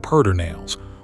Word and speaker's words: Pedernales: The river that ties this whole park together is the Pedernales, and Texans will tell you firmly that it is pronounced Pedernales, whatever the spelling says.